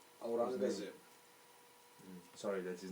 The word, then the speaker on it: Aurangzeb: How do you pronounce his last name? Aurangzeb. Sorry, that's his name, of course, not last name. The emperor. Aurangzeb.